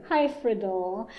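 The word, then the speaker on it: Hyfrydol: So, the in English they call it we say "Hi Fred All", but I looked it up on some Welsh pronunciations and it's something more like "Hush Fred All".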